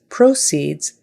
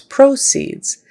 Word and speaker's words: proceeds: as is a verb however proceeds proceeds is a noun and in the sentence following it's going to be a noun so it's proceeds and this time the syllable stress is on the first syllable so proceeds is a